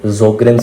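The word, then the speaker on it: Sjögren: Xerostomia जो है आपको किस कंडीशन में देखने को मिलता है, किस सिंड्रोम में देखने को मिलता है, जोग्रेन सिंड्रोम, एस साइलेंट एस में।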